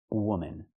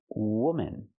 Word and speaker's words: woman: And the last one is this, woman. You have 1 woman. Use the sound like good and book. Woman. The second syllable is relaxed and closed.